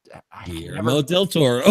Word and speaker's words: Guillermo del Toro: think about quesadilla. How the L's.